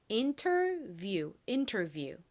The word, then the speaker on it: interview: I, E의 E 소리와 W의 우 소리가 빠르게 연결되면 U처럼 들립니다. 그래서 이 단어의 발음이 interview가 되는 거죠. 발음 연습 같이 해볼게요. 이 단어도 in 부분에 강세가 있습니다. interview.